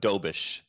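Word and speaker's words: Dobeš: his name is it dubes do it's it's so he's actually uh he's Czech it's a doish so yeah with the sh sound at the end yob doish okay so I'll I'll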